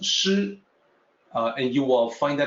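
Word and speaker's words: 師: This is pronounced shi, and you will find that in two places, at the end of line 11 and at the end of line 13.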